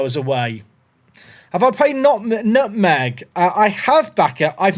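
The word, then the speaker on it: Nutmeg!: But yeah, if people haven't seen Nutmeg, it's spelled N-U-T-Met.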